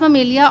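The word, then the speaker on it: Mammalia: Class उसकी मेलिया मैं इसलिए आपको ये प्रोनाउंस करके बता रही हूं ताकि आपको पता चल जाए वर्ड्स को प्रोनाउंस कैसे करना है। Class ममेलिया order primes family Hominidae genus हमारे पास होमो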